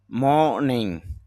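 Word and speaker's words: morning: আরো বা অধিক মোর অভার অধিকন্ত বা তাছাড়াও মর্নিং সকাল এখানে র উচ্চারণ না করলেও হয় মোস্ট সবচেয়ে বেশি বা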